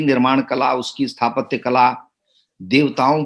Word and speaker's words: Deo: जो हमारे यहाँ देव कहते हैं, देव एज इट इज लैटिन भाषा में देव है, स्पेलिंग डीईओ करते हैं उसको, देव।